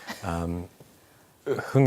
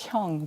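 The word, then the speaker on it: 흥: Hung is hung. I've heard someone People- pronounce it as hyung, by the way. Hyung. Yeah. No, not hyung.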